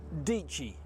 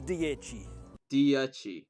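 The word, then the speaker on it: Dieci: like from New Zealand lots of ways of pronouncing it we've heard dichi nope we've heard DC we've even heard duchy close but still no the correct name is diegi it's Italian for ten it's Italian for teen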